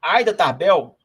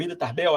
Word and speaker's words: Ida Tarbell: Tem uma passagem nesse livro, O Petróleo, sobre a Aida Tarbell, ou Ida Tarbell, acho que é a Aida Tarbell, que deve ser a pronúncia mais adequada, que era uma jornalista